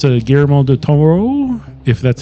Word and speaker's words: Guillermo del Toro: Guillermo del Toro. Guillermo. Bob. I think you guys are putting a lot more stank on the Toro than you need to, but you're right.